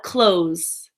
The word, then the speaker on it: clothes: her asked I asked him next we reviewed clothes like what you wear and in this you pronounce it like clothes as an open the door close the door close close I have a lot of clothes clothes are really expensive and finally we reviewed